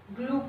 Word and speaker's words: glue: Glue का spelling होता है G-L-U-E. G-G-L-L-U-U. Glue. Okay. Glue. इसका साउंड नहीं होगा.